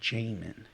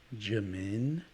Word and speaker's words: Jamin: myself everywhere you go my name is jamin but because of how it's spelled it could be pronounced jimin jammin you know there's so